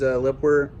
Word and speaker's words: LEPOWER: review today on these Lipper that's how you say it le pwer floodlights led got this